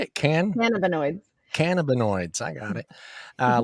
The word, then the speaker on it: cannabinoids: i don't even know how to say that cannabioids again another one and like delta eight yeah yeah how do you say it can cannabinoids cannabinoids i got it uh like delta eight